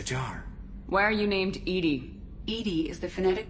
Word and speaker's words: EDI: airlock is a jar why are you named Edie Ed is the phonetic pronunciation of e d that is an acronym